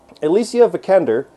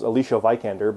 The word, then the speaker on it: Alicia Vikander: Alicia Vikander is how you say her name. I always said it as Alicia Vikander, but Alicia Vikander, I know this from her behind-the-scenes stuff, is awesome in this.